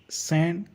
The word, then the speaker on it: Saint: T in Saint is also silent. And Germain will be sounded as Germain. Here is a simple sentence. Esports Paris Saint Germain. Repeat after me. Paris Saint Germain.